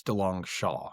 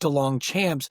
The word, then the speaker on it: Delongchamps: So technically technically it's Dong Shaw now pronounced Dong Champs.